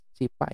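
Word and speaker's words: SciPy: CPy, CPy ya dibacanya, CPy nd image, lalu di sini import CV2, di import OpenCV.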